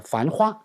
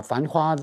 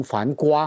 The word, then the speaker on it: 繁花: 镜头下的繁花，不一定是了解文字的繁花哈。我经常把繁花读成繁瓜，不好意